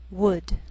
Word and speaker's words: would: Sometimes L can be silent, so you have to be careful. The first 5 words listed below are very common, so let's take the time to make sure that you're pronouncing them correctly. Listen and repeat after me. Talk, walk, could, should, would.